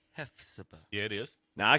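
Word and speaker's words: Hephzibah: You say hef like you Hefner, can't you?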